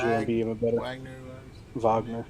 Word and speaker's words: Wagner: Wagner. That's how you say it.